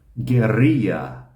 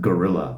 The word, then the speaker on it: guerrilla: Guerrilla. Guerrilla is, in English, we kind of just pronounce it gorilla, which we'll talk about in a moment.